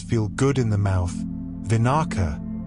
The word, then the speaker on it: vinaka: Vinaka.